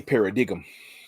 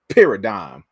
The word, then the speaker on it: paradigm: I'll be wanting to take my knife and stab somebody in their paradigum. I be going to stab people and they paradigm. Paradigm. Come on, man. Parody them. Paradime.